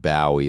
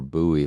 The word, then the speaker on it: Bowie: Not Bowie like the rockar. Buoy like the knife.